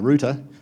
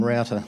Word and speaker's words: router: noticed too is uh you guys say rout um we try to avoid that pronunciation we call them router like other places because uh routa is just a little bit amusing to uh Aussies so we uh we're